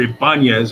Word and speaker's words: Ibanez: There's an acoustic bass over there, which is an Ibanez, I believe, or Ibanez, if we want to pronounce it properly.